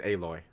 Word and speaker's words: Aloy: But do they pronounce her name Aloy in the game and yes, not Alloy? It's Aloy.